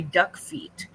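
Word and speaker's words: Duckfeet: surprising one would be duck feet du c k Fe T spelled like it sounds um she said it's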